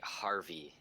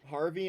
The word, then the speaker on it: HXRVI: I don't know how to pronounce I believe that's going to be Harvey. Harvey. I Okay, I think if I'm getting the whole X thing right, it would yeah. be substituted for like an A or Yeah, makes something sense.